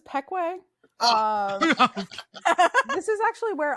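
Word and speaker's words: Pequea: about p iqui uh folks this is this is pekwe um this is actually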